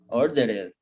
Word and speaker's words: ordered: So it's not order, ordered. What is the pronunciation? Older. Ordered. Repeat. Ordered.